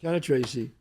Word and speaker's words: Cannistraci: Cannistraci. Cannistraci.